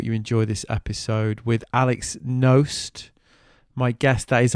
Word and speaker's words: Knost: Thanks for tuning in, hope you enjoy this episode with Knost. My guest, that is how you pronounce it, by the way, I checked with him.